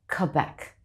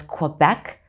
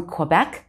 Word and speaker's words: Quebec: they'll pronounce it as quebec no u sound there even though there is a u americans may pronounce it as quebec but canadians from quebec say quebec except they